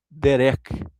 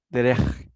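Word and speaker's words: דרך: A palavra aqui do hebraico é derek, derer, ou derer. É bem difícil a pronúncia, mas é caminho, estrada, modo de viver.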